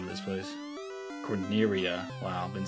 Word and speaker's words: Corneria: I did run back to Cornelia, is that even the name of this place? Corneria.